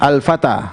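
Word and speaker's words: الفتى: Musa Aisyah Al Fatah bacanya Al Fatah artinya Pemuda perhatikan ini Alif sebenarnya sebenarnya begini Al Fatah tetapi tulisnya bengkok ini Alif ini Alif ya ini huruf alif bengkok perhatikan terakhirnya alif bengkok sebelumnya apa fathah bacanya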